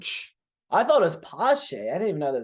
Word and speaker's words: Pache: It's Patch. So everyone thinks it's Pache. It's Pache. Che. Check. Pache. Like there's supposed to be a T before the C.